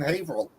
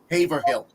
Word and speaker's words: Haverhill: No, that was the two enterprises right near me, one in Salem, one in Haverhill. Or as the woman on the phone who was not from Massachusetts pronounced it, Haverhill.